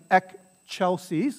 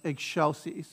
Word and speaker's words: excelsis: it's not ek it might look like an ek chelsea's because c before e has a cha sound